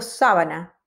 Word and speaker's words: sábana: palabras son más rápidas si yo digo sabana y digo sábana son dos cosas diferentes la sabana en África y una sábana en una cama sábana